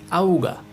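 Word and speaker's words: Auge: The second diphthong or letter combination is AU, which is pronounced like ow, ow. And the example for ow is auga, which means eye in English.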